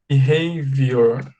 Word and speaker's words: behavior: Márcia, a gente pronuncia assim, ó. Be, right? Aí você fala hey. Behavior.